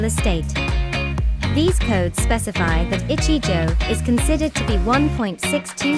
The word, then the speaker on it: ichijo: Pronounced as ichijo, where ichi means one in Japanese, and jo indicates a tatami mat.